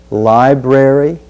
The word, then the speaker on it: library: word is library library notice the diff thong i in lie library and then the final